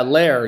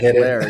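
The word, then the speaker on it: Lehr: German, but yeah, pronouncing it in English is tricky. Yeah, Lair. You You hit the nail on the head. Lair.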